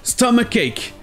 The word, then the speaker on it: stomachache: Et ça devient plus perturbant avec stomachache. Stomach, c'est l'estomac ou le ventre, donc avoir un stomachache, c'est avoir mal au ventre. Ici, les deux CH se prononcent bien que. Stomach, ache. Stomachache. Des fois, avec les mots